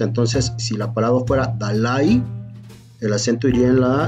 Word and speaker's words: Dalaí: Fíjense, si esta palabra se pronunciara Dalai con acento en la A, debería llevar acento también, pero entonces sería un diptongo.